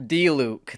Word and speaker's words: Diluc: Diluc.